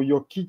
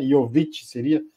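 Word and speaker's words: Jović: aí pro pro Nicolas jovit que não é o Yoki Então tem que tem que saber a pronúncia certa aí né yovich Então acho que é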